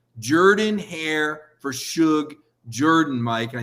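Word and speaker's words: Jordan-Hare: cover auburn you gotta say the stadium name right it's jordan hair i said but it's spelled with a no trust me jordan hair for suge jordan mike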